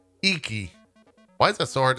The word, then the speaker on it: Iki: Icky? It's definitely not Icky. How do you pronounce this? Iki.